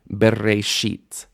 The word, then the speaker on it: bereshit: How many syllables are in Bereshit? Bereshit. There's three syllables.